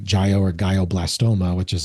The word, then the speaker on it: glioblastoma: And he ended up getting, I might mispronounce it, but it's like gio or glioblastoma, which is like a rare brain cancer. Oh yeah, glioblastoma.